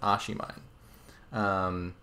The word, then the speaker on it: oshiimine: consulted with Oishi and figured out the correct pronunciation I believe it's a she mine it it looks like some like Japanese thing